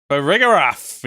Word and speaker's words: Farigiraf: Farigiraf, yes.